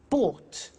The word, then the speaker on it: bought: to the pronunciation bu bought you notice that o u g HT is pronounced ought buy bought come came